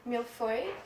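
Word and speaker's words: mille-feuille: called nappa lemon or milk soy if you're French and that's almost a correct pronunciation I guess so we're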